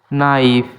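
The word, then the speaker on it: knife: নাইফ। এখানে কে silent?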